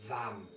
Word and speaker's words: Vam: of the sacral chakra which is pronounced as vam v-a-m i'm going to give